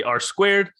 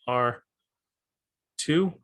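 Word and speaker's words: ℝ²: r uh r yeah r two is how you would pronounce this and just like that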